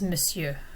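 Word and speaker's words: monsieur: end of a word the one exception to that is miss you and we don't really pronounce the r at the end of that word so if you see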